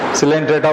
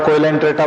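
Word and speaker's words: Coelenterata: को चेमेलियन बोलती हैं तो सिलेंट्रेटा को कोइलेंट्रेटा बोलते हैं।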